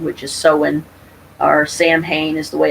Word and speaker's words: Samhain: so by Halloween which is so in our Samhain is the way it's spelled but it's actually pronounced sewing or so we so that would be the